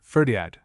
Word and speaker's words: Ferdiad: In LL the name appears as one word, Ferdiad, usually scanned as a disyllable, though occasionally as a trisyllable.